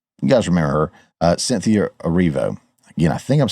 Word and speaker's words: Erivo: You guys remember her, Cynthia Erivo.